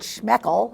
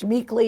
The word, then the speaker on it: Schmeeckle: Because once we learned how to say it because for a long time we called it Schmeckel and they were like, "No, it's Schmeeckle." And so now I know how to say it.